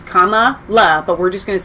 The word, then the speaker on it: Kamala: right on this show you heard it once it's comma love but we're just going to say kamala doesn't matter biden mispronounced